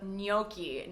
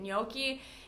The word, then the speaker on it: gnocchi: The G is silent, and we do not